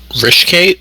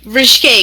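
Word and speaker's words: ryshcate: Rishkate? Rishkate, yeah, I got some Rishkate hidden away.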